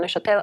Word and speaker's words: Neuchâtel: Am I saying Neuchâtel?